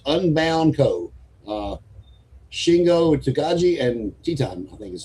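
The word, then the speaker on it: Titán: Shingo Takagi and Titan, I think is how you say that. Titan is how you. Yeah, Titan, yes.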